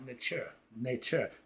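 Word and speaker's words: neter: Netter, singular, one, it's pronounced nature, okay.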